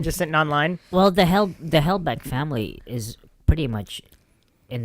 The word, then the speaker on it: Halbach: Well, the Halbach family is pretty much in that position too. Hallback. Like, yeah. Oh, Halbach. Sorry. Hellback. Wait, what did I say? Halbach. Hellback. Oh, Halbach. Halbach.